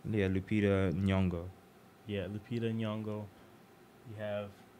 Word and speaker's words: Lupita Nyong'o: Like Lupita, is that how you pronounce her name? Yeah, Lupita Nyong'o.